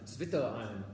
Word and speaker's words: Zwitterion: It's pronounced Zwitter. Zwitter. Zwitter. Zwitterion.